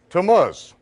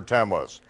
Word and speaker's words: Tammuz: Can anyone pronounce that for me? Tammuz.